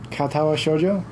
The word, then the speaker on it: Katawa Shoujo: Katawa Shoujo.